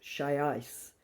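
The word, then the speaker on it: Xiaoice: So she's talking here also, reminding us about this chat box, pronounced Shai's, who was designed with a focus on high emotional intelligence.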